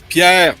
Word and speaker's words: Pier: world, and so let's welcome to the show Pier from Liva. How are you? Did I pronounce it right anyway? Yes, Pier, you got it?